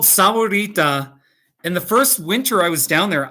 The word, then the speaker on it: Sahuarita: of the word is sauerita it's the same word as saguaro except they're using an h instead of a g so it means ita